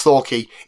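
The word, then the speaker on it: Thwackey: whole time it was pointed out to me it's Thor key it's Thor key and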